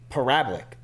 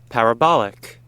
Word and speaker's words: parabolic: Parabic. Parabolic.